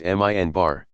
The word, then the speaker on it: minbar: steps of a pulpit called the minbar, pronounced minbar.